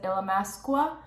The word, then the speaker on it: Illamasqua: So I always see like UK YouTubers pronouncing it, and they pronounce it Illamasqua. So I'm just gonna roll with that as they say there.